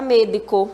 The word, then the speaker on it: médico: A palavra médico. Essa daqui tá super fácil, né? Vamos separar? Olha só. Médico. Médico. Qual é a sílaba forte? Me. Então, como é que a gente vai falar? Médico. Médico.